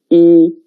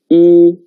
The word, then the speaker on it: 一: And the pronunciation is 一. 跟我读一.